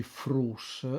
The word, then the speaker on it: fruts: Anche se io pronunci frus, ma scrivo fruts, d'accordo? L'importante è che è uno